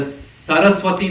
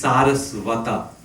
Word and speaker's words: Sarasvata: And the Saraswati that is being spoken about here is Bhakti Siddhanta Saraswati Thakur. And his disciple is Sarasvata, not Saraswati, Sarasvata.